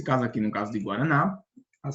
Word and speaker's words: guaraná: ela tem três sílabas nós percebemos que a ênfase a sílaba que é mais pronunciada que tem a maior intensidade é a última sílaba que é o na não é verdade essa é